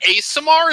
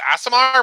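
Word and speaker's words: Aasimar: asamar bard okay uh yep clarification looks like asamar is the correct pronunciation asmr yeah whatever you wanna i've never heard it pronounced eric said for me i would have guessed asmr but i'm an idiot so i don't i'm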